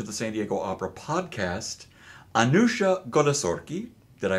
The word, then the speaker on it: Anooshah Golesorkhi: to Welcome to the San Diego Opera podcast anusia goori did I pronounce it correctly yes you did absolutely who